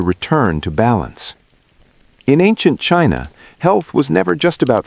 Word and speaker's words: qi: In ancient China, health was never just about flesh and bone.